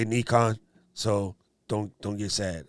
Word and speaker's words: Nikon: and oh and andrew by the way i pronounce it properly i say nikon so don't don't get sad i'm a japanese